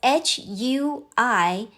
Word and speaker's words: 回: So, it is not "ui". The combination represents a sound closer to u e i, "wei". So, h u i is closer to "hui".